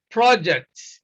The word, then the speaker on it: project: same example you know consider the word projects projects you see stresses on the first syllable when we use what this word as a noun project a noun is